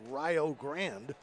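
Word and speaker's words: Rio Grande: Actually located in Ohio and pronounced Rio Grand 76 nothing.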